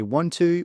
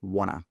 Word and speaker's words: want to: So we wouldn't say want to, we'd say wanna.